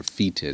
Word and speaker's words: fetid: It means to stink of, and the English word fetid, or fetid it's sometimes pronounced, comes from this verb.